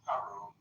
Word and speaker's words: Haroon: I think I mispronounced it earlier. It's okay. My friends call me. It's Haroon.